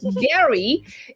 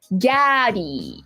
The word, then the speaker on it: Gary: My name is pronouncing your name as Gary. It might be better to say it like Gaddy.